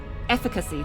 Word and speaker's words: efficacy: the dictionary efficacy okay it's the F efficacy that's that's the pronunciation the the emphasis of on the air at the start at least in British efficacy the ability to